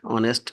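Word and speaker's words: honest: Listen এখানে টি silent অনেস্ট এখানে এই সাইলেন্ট যাই হোক এই পাঁচটি নিয়ম মনে রাখলেই আপনারা প্রনাউন্সিয়েশন অনেক ভালো করতে পারবেন।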